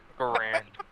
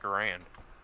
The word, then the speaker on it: Garand: to assle like that Gand I never heard someone pronounce it as Gand hand a his face wait how how do you say it if not Garand Garand says